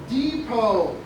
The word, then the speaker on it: depot: station the bus station we call it a Depot d e p o t but the t is silent okay new word Depot